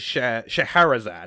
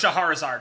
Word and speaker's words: Scheherazade: The narrator, her name is Scheherazade, I believe is how it's pronounced. Scheherazade.